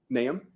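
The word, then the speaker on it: Nahum: correct and and and what's your last name naam okay how do you spell it it's n as a Nancy a h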